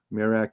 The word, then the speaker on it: Merak: these two n stars of the big dipper mirak and dubi or some pronounce it dubai b-u-b-h-e and mirak m-e-r-e-k merak and dube and notice that so many of